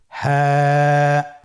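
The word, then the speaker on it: ه: হা হরফটি উচ্চারণ ক্ষেত্রে অবশ্যই বারিক হবে এবং 1 আলিফ টেনে পড়তে হবে। আপনারা আমার সাথে বলুন হ্যাঁ। হ্যাঁ। হরফটি উচ্চারণের স্থান কণ্ঠনালীর শুরু হতে, অথবা আমরা যদি আরবিতে বলি হলকের শুরু হতে এই হরফটি উচ্চারিত হয়।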